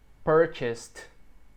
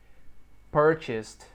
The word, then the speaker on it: purchased: Verbo regular no passado, não pronuncia esse E aqui. Purchased. Purchased.